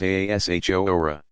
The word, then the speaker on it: Ashura: Ashura, pronounced Ashora.